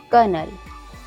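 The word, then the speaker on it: colonel: कर्नल, कर्नल में भी ओ के बाद एन आया हुआ है, एन के बाद ई आया हुआ है, तो यहाँ पे ओ साइलेंट है।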